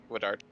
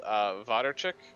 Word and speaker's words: Wodarczyk: that way, but it's Woodard. Really? Because I heard, I think I heard Waterchick last from Cooper. Well, if it's actual like Polish pronunciation, it's Wodarczyk, but or Wodarczyk, but it's if you're Americanizing, it's Wodarczyk.